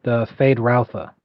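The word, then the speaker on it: Feyd-Rautha: in the 80s, I believe it's pronounced Fade Routha.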